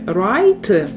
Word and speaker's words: write: Нагадую, що в слові write перед останньому літера W, вона теж не читається. Тобто ми, в принципі, читаємо з тобою три літери. R, I, T. Останні дві літери не вимовляються.